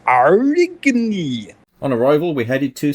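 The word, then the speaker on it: Aurigny: That's not unpronounceable, it's Arigny.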